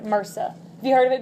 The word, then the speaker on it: MRSA: So they call it MRSA, like doctors and nurses pronounce it MRSA.